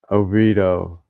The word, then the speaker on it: Oviedo: Oviedo.